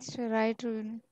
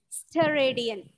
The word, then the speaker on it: steradian: Radian and steroid. Radian and Steroid. it's pronounced radian and steradian.